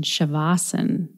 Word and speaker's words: shavasana: back in episode 288 indu taught me to use the pronunciation shavasana so if you noted